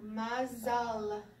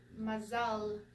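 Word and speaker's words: מזל: So mazal, mazal, mazal.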